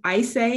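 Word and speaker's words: Ayşe: and it's by a woman uh um ours i say is how you pronounce her name a y s e bursal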